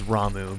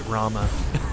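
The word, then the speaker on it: Ramuh: I think the proper pronounces is Ramu, but I always pronounced it Rama, and that's gonna be a hard thing to break.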